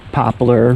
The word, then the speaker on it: poplar: That smell is popple, or poplar, most people pronounce it.